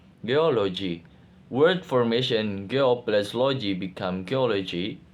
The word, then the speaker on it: geology: Geolog Geog geology geology word formation gloology become geology stress pattern geology explanation the suffix logi systematically attracts stress to the presuffix syllable producing a stable and predictable stress pattern.